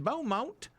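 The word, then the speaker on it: Beaumont: head down to Texas in Bow Mount where you got to say it like that. It's a law.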